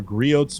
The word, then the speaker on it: Griot's: Oh, Griot's. The T is silent. The T is silent. Yeah, as in Target.